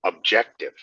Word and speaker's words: objective: Objective, strong on the second.